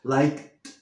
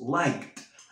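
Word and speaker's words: liked: el pasado de like Es like y lo pronunciamos like nos comemos la e y la b como t por qué porque tenemos una k y la k es una consonante fuerte entonces decimos like te invito a que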